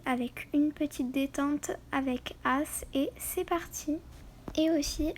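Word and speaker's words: Ace: Donc vous voyez le cheval juste derrière moi, c'est mon cheval, il s'appelle As. Donc ça s'écrit A-C-E.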